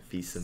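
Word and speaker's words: Fils-Aimé: Well, I mean, they teach me ami and fils, so Fils-aime.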